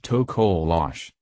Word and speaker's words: Tokoloshe: Its name is the Tokoloshe, pronounced Tokoloshe.